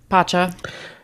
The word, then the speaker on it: Pacha: Pacha.